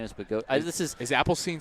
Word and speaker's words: Bogosian: Lynch, Barranca, Ashworth to face Adam Bogosian. And every time I see his name, I now think of, I want to say it like Bogosine, which is wrong because it's wrong.